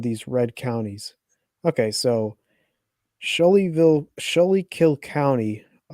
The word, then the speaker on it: Schuylkill: Okay, so Schuylkill County, Schuylkill. Schuylkill, my bad, butchered the name, sorry.